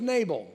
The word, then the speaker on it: Nabal: His name was Nabal, which rhymes with navel.